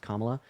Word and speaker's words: Kamala: then second of all her name is pronounced kamla uh and then third